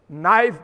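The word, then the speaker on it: knife: नाइफ में पहले के लिखा जाएगा, लिखो, बोला नहीं जाएगा, साइलेंट है, चुप रहो।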